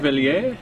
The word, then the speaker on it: Cuvelier: I mean, usually that ends in kind of an A sound, right? Cuvelier.